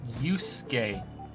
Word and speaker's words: Yusuke: is yusuke kitagawa yusuke yusi yusuke so just the way i pronounce things just ignore the second you so you skate like